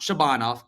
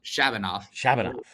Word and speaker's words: Shabanov: Ivan Demidov is plus 200, and Max Shabanov, not Shabanov, Shabanov.